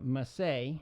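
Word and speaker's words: Masset: on the team Luka must say and that is mas se T but he's French to pronounce it must say again he has two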